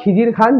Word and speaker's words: খিজির খান: আসল উচ্চারণ কি হলো? খিজরে খান।